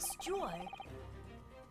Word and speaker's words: steward: Anyway, it's about the time that a steward อ่านว่า steward นะคะ steward เนี่ย steward เนี่ยค่ะมันอ่านว่า steward มันคือ stew กับ art นะคะ steward คนไทยเลยอ่านว่า steward นะคะ steward is supposed to come and clean the cabin.